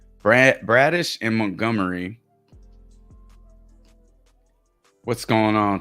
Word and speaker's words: Bradish: about myself and uh you guys haven't been saying my name right all this time so I'm gonna I'm G to make make sure y'all y'all know Kyle brandish is that his last name okay Kyle bradish we're took we're talking